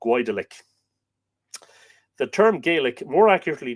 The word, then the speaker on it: Goidelic: The term Gaelic, and here it is, we would spell it Gaelic, but the earlier spelling Goidelic, such that you would look at it and go Goidelic.